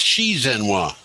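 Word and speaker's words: 习近平: The X is pronounced SH. The what? The X in Z is pronounced SH. So it's Xi Jinping.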